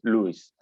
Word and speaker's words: Luis: in sky dweller did the name is luis but prolly you will pronounce it luis no problem um well